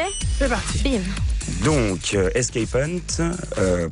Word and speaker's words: Escape Hunt: Donc Escape Hunt, prononcé escape comme l'échappée en anglais et hunt comme la chasse, puisque c'est une chasse d'évasion.